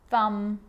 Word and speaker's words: thumb: Now there's a rule to remember with the letter B. It's always silent when it follows the letter M. Climb, crumb, lamb, thumb, dumb, and plumber. So practice them with me. I'm not pronouncing the B, I'm just pronouncing the M consonant sound.